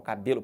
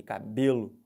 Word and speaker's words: cabelo: fala essa palavra cabelo olha como é que tá bem próximo do Real cabelo pode forçar a vontade aqui cabelo com muita força vai ficar legal porque porque essa é a sílaba tônica da palavra se vocês quiserem isso